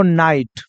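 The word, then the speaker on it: night: का मात्रा बोला जाएगा लेकिन जी एच में जी एच बिल्कुल साइलेंट और टी का उच्चारण ट लेगा जैसे एक वर्ड हम आपको बता देते हैं जरा यह देखो नाइट ठीक है अब देखो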